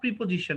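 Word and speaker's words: preposition: দেখবা যে কি বলে প্রেপজিশন নট প্রিপজিশন ওকে উচ্চারণটা শুদ্ধ করবে আর কি প্রেপজিশন ওয়েল তাহলে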